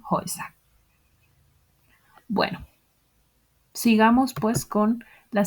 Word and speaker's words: Häuser: La A umlaut U cambia la pronunciación también y se convierte en die Häuser.